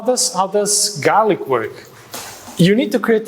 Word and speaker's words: GLRC: Okay, so now the next act is this tool called Garlic. So it's spelled GLRC, but actually you pronounce it as garlic.